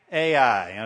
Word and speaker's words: Ai: Okay, Mr. Sanchez is going to tell you it's I, which probably is Hebrew. It's right. I mean, I know Hebrew, but Ai is what it looks like in English, so